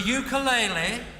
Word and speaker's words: ukulele: The ukulele, correctly pronounced ukulele, roughly translates as dancing flea.